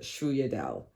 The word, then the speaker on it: sfogliatelle: my favorite is the sfogliatelle. And if I can remember, I will insert here how that is actually spelled. Obviously, we say it like it doesn't look the way on how you say it, but it's one of my favorites.